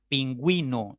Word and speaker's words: pingüino: La U se pronuncia. Pingüino, la U se pronuncia.